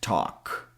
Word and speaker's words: talk: Same thing with talk. Another word we don't pronounce the L sound is in half.